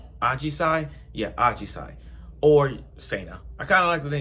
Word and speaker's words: Ajisai: Ashijai, am I pronouncing this right? Ajisai? Yeah, Ajisai.